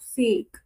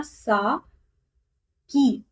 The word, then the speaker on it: sake: अब इसकी अगर जापानीज प्रोनाउंसिएशन देखें तो ये बनेगा सा की, साकी, ठीक है। ये काश मेरे पास साकी का एक कप होता, लेकिन अब हम इंग्लिश में इसको सेक बोल के चलते हैं, ठीक है।